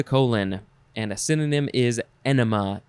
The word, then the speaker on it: enema: and a synonym is enema e-n-e-m-a not enemy not some other it's it's enema uh irrigation i mean